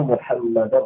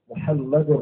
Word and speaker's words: محمد: bukan Muhammad, Muhammad. Kemudian terkait dengan lafaz Muhammad, maka wajib dibaca dengan ha, tidak boleh dengan ha. Tidak boleh kita membacanya Muhammad.